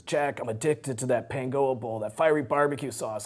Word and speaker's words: Pangoa: That's how it's pronounced. Pangoa Bowl, exactly.